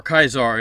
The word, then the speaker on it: Caesar: term for an emperor caesar or kaisar as they probably pronounced it it's the same root